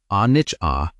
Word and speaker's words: anicca: But the Pali word, anicca, pronounced anicca, does not mean things end.